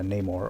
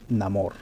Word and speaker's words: Namor: narco Mexico to be specific and he plays Neymar or as they call him in the movie um Namor if you want to pronounce it like that the fish man so